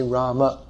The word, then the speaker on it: Rama: So to say the name properly according to Sanskrit pronunciation, we should say Rama.